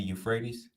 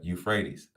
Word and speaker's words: Euphrates: the east of the euphrates this high used to pronounce it because they people pronounce it without the e at the beginning they they say uh euphrates so i started saying